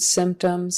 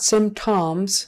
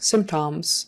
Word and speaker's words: symptoms: there at the end symptoms symptoms not some toms symptoms symptoms would sound funny even though you would think by the spelling it might be a short o sound tom tom but it's